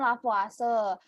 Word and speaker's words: Lavoisier: yaitu dari nama ilmuannya Kalau tulisannya bacanya kan lavoisier tapi cara bacanya lavase jadi hukum kekekalan massa